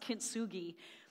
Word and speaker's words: kintsugi: Mickey Howard before this but I think it's pronounced kintsugi means golden repair or gold golden mending yeah